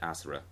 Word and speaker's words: Asura: Even though Asura may sound like Azura from Elder Scrolls, it's No, I'm pretty sure it sounds. At least Yasha, he pronounces it Asura.